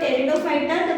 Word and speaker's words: Pteridophyta: Here the word Pteridophyta, the P is silent, that is why it is pronounced as Pteridophyta.